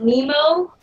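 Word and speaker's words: Nimo: No, I bought it from Amazon, but it's called Nemo, but it's But it's spelled N I M O.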